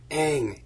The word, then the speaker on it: Aang: I wanted them to I just wanted to scream Aang its egg because they said it in the cartoon Aang about a thousand